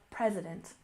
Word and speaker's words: president: and next we have President we stress the first syllable president president of course this is